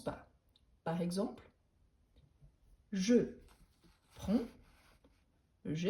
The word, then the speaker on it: prends: Par exemple, je prends, je prends. Par exemple ici, on ne prononce pas le DS.